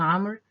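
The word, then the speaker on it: عمرو: now this here is Amr and not Umar. So the waw is always silent. This here is a distinct word, a specific word known to have a silent letter at the end of it.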